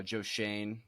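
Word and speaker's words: Joe Schoen: bill's assistant gm uh joe shane is how it's pronounced as i'm told uh and then uh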